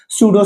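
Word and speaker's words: pseudo: Word के लिए जैसे सूडो साइंस नकली विज्ञान सूडो इंटेलेक्चुअल नकली बुद्धिजीवी आदमी इस टाइप के वर्ड्स के लिए यूज़ में लिया जाता है तो यहां पे भी आपका पी साइलेंट है।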